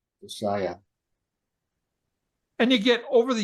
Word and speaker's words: Josiah: get over the years you'll get used to where the emphasis is whether it's Josiah or josia okay but even if you said josia people would say oh wow you know that's that's way better than just skipping it yeah